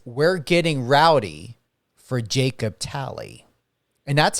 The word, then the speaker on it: Talley: and it says we're getting rowdy for Jacob tally and that's how you pronunciate your last name right is it tally y that's correct yes sir see I knew